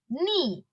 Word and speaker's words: knee: that's why we say knee knife not no okay so though k is present in those words while pronouncing those words in english k is silent okay so the common